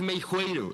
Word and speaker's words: Meixueiro: Eh, sí, es Meijueiro la X como J.